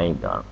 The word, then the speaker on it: omega: symbol for angular acceleration this Greek letter is pronounced only Omega and it's used for angular velocity and this